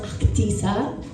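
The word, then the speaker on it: Ahtisa: It's actually supposed to be pronounced Actisa.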